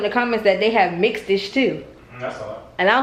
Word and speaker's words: Mixed-ish: Mixish? Mixed-ish.